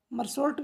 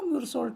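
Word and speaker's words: Meursault: मरसॉल्ट भी कह सकते हो, म्यूरसॉल्ट भी कह सकते हो, इट इज़ a name, you can pronounce it एज you like.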